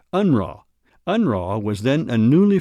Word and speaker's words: UNRRA: In 1944, Reimer was recruited by the United Nations Relief and Rehabilitation Administration, or UNRRA, commonly pronounced UNRWA.